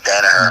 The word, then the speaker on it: Danaher: to your coaching and, is it Danaher or Donaher? I don't want to mess it up. I would say most people pronounce it Danaher.